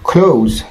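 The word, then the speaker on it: close: হ্যাঁ, ক্লোজ, দেখুন আমরা এটাকে আগে বলতাম ক্লোজ, ক্লোজ বলতাম আগে, কিন্তু এটা হবে ক্লোজ।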